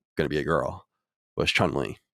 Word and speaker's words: Chun-Li: be a girl was chun-li although i called her chung-ly like with a g for whatever reason i didn't realize that i was saying it wrong when i was a